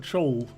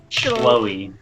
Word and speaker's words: Chloe: Hey, when I see CH, I think Cha. Not Cha, like Chloe. Chol. Chloe. It looks like Chol. Like when you actually like look at it, it's like CHLOE. It looks a little bit like it should be pronounced as Chol, but it's not.